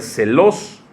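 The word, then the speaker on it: ζῆλος: bienes bueno pues viene una palabra griega que se pronuncia celos con z y esto significa en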